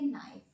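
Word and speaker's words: knife: प ध्यान दीजिएगा और प्रोनंसिएशन पे लिखा हुआ है के एन आई एफ ए बट के हमारा साइलेंट हो जाएगा और इसको हम पढ़ेंगे नाइफ नाइफ मतलब चाकू ओके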